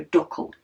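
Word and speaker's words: Dackel: she said is actually dle uh which is pronounced like duck with an NE L at the end so duckle she says probably something she says a lot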